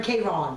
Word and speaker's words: Karen: Phonetically, how do you say Karen? K-Ron.